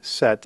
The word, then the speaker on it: sept: It's very much like the word S-E-T, set, in English. So again, set. Notice that the P is not pronounced. It's essentially a silent letter.